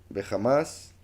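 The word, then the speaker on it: חמס: es que la palabra jamás aquí aparece en hebreo como uno de los verbos. Es curioso que se pronuncie jamás, igual que ese grupo que está haciendo esto, violencia.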